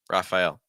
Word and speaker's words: Raphael: Leo IO Leo and Raphael Raphael no that first little becomes raah um I guess you